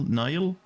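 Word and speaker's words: Nihil: Wait, Nile is how you pronounce that? I mean, yeah, Egypt. Nile. I get it. But like that's how you pronounce N I H I L. Nile.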